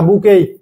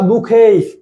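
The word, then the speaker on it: bouquet: roses লাল গোলাপ তাহলে বুকেই এর উচ্চারণ কিন্তু বুকেট না বুকেই বা বুখেই তাহলে দেখেন উই মেধা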